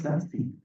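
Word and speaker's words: SASE: is SAS s e this is pronounced as sassy sassy s a s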